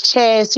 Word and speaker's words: Chas: it's Chastity. You got Chastity together, but it's Chas.